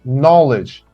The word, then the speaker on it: knowledge: Knowledge. K is silent.